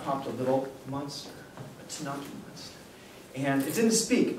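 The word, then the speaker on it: T'naci: you hiken you hear a story about a tanaki monster that's spelled t apostrophe n a c i tanaki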